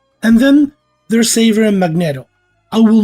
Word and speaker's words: Magneto: of magnetism the word Magneto existed before the character it's a type of magnet using electrical generator and it's actually pronounced that way it's not the word magnet with an O add it at the